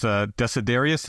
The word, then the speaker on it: Desiderius: There's this figure in the book that his name is Desiderius. Did I pronounce that correctly?